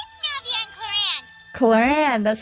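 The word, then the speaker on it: Clorinde: Cloran, that's how you say her name.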